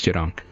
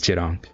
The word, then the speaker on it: Jang: two think you're doing sorry butchered that um this yeah it's Jang I was going to say it but I didn't want to say it sound foolish it's Jang so are you using